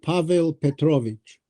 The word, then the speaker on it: Pavel Petrovich: Just in your correct pronunciation. The uncle is called Pavel Petrovich.